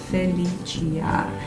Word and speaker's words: Felicia: So it's Felicia. It's not Sia, it's not Shia, it's Chia at the end.